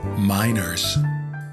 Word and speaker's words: MiNRS: do I pronounce this it's pronounced minor okay and so it's